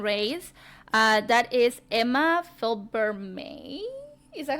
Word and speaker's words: Felbermayr: And the other girl that won the second race, uh that is Emma Felbermayr. Is that how you pronounce her? Emma Felbermayr. Fel- Felbermayr. There you go. That sound better now. Emma Felbermayr.